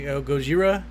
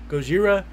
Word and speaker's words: Gojira: And of course, saying Godzilla is actually the whitewashed American way of saying it. It's actually Gojira, I believe, how it's originally supposed to be pronounced. Yeah, it's Gojira.